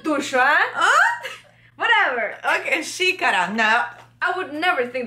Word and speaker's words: xícara: Eles não conseguem pronunciar o X. Porque tem um som diferente.